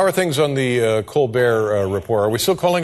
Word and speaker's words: Colbert: are things on The Colbert Report are we still calling it the Colbert Report or yeah we have not found the pronunciation of that T yet we don't know where we left it it's good it's good